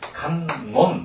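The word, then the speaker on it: 観音: 그러니까 이것을 뭐라고 읽냐면 간놈 이렇게 있습니다.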